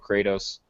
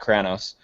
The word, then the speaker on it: Kratos: the way looks and I love Kratos not kranos um I don't know